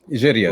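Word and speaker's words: Jiryis: Arabs in Israel, it was written by Sabri Giris. Is that how you pronounce his name? Giris, right.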